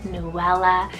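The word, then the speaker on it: Nouella: second to last name here is newella n-o-u-e-l-l-a Noella this is so sweet if you want that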